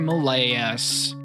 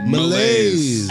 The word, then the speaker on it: malaise: Malayas. Malaise. That was a really bad pronunciation. You got to do that again. Malise. Malaise. I know it's malaise.